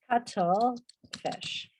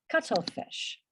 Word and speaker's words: cuttlefish: Now, acordamos que L-E se pronuncia ul. Okay. So this is cuttlefish. Cuttlefish.